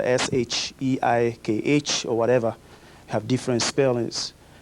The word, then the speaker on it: Sheikh: Uh as they change the pronunciation to shiek.